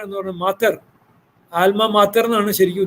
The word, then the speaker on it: alma mater: ആൽമ മാറ്റർ എന്ന് പറഞ്ഞാൽ ആൽമ മാത്തർ എന്നാണ് ശരിക്കും ഉച്ചാരണം. മാത്തർ, പക്ഷേ ഇംഗ്ലീഷിൽ പറയുമ്പോൾ ആൽമ മാറ്റർ എന്ന് പറയും.